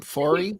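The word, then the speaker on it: Foree: might remind you of fory is that how you say his name fory fory yeah who might remind you the M that's how I say it from the original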